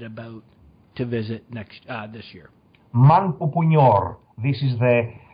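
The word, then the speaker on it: Manpupuner: Manpupunyor. This is the pronunciation of the place of the central Ural Mountains in Russia, because are inaccessible.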